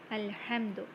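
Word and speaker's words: الحمد: so we pronounced it al-hamdu it is pronounced when starting the words and there are cases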